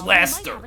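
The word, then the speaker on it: Leicester: of the world don't even know how to pronounce it it's Laster we just put a I in it instead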